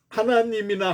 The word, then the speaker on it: 하나님: 그런데 평안도에 있는 분들은 그것을 하나님으로 읽었어요. 하나님. 더 발음하기가 쉽죠, 사실은. 서울에 있는 사람들은 하느님으로 읽었습니다.